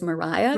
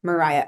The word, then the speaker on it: Maria: So even what we would see as Maria was Mariah With for a very Mariah. I noticed that with like Mariah Edgeworth.